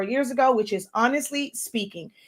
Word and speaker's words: Spinking: ago, which is Honestly Speaking. It's spelled SPINKING. So it's a play on words with the word ink in it, but it's pronounced speaking.